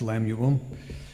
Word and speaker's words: Lemuel: Arabian Peninsula and uh was uh pronounced as lamuel we uh I want